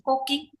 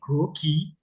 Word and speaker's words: 고기: Ayo makan koki, nggak ada kan? Itulah yang menyebabkan kita ngambil kesimpulan apa? Dia memang dibaca apa? Gogi. Gogi, kan kayak gitu ya bacanya.